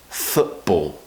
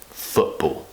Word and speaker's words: football: the chance all so what we're doing is we're cutting the sound out football the second syllable